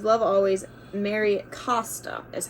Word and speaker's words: Mary Costa: with that um and it says love always Mary Costa is how you pronounce it um and she was the original